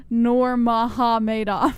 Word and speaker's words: Nurmagomedov: they're mega made off it's pronounced nor maha madoff nor mcdonald adolph oh